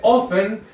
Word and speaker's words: often: entonces decimos How often se escribe often pero se dice often como si la t fuera muda How often tat Y